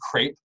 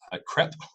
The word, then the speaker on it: CREP: And so the Collaborative Replication and Education Project is pronounced CREP, not CREP, and it rhymes with grape, if that helps.